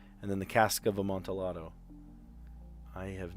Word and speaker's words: Amontillado: The cask of Amontillado? Isn't that how you pronounce it? Amontillado.